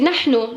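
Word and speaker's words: نحن: Nun, ha, nun. Nahnu. Pourquoi j'ai marqué le 7 ici? Nanu. Et il y a le 7 entre les deux là. Parce que le ha, comme je vous ai dit dans la dernière vidéo que j'ai faite, le ha, le 7, ça remplace le ha.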